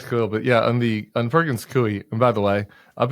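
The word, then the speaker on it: Perkins Coie: even on this podcast I've been pronouncing this Perkins Cole for like 20 years I don't know there's just something about my eyes where it just looks like it should be Cole and like I don't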